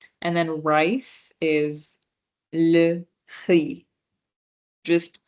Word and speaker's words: riz: So far we have une pomme, une banane, le pain, le fromage, and then rice is le riz, just riz. The Z is silent again.